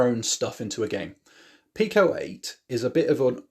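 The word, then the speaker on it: Pico-8: And is that how you say it, Pico 8? Pico 8, yeah.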